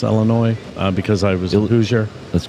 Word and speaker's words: Illinois: uh Illinois um which I know how to pronounce Illinois uh because I was let's get it right Illinois Illinois yeah and Wisconsin Right Wisconsin Illinois yeah